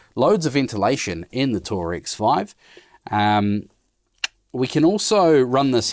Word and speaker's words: Tour-X5: I see the XD5 also has these, or Tour-X5, there you go, I've said it wrong again, has these vents in